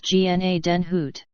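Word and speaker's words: Gnadenhütten: magazine for february and march 1756 marg note pronounced gna den hoot flintlock guns discharged by means of a spark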